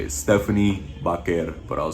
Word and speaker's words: Vaquer: This is how you say it, Stephanie Vaquer. If you want to say it like in English, it'd be Stephanie Vaquer. I'm just gonna say Vaquer.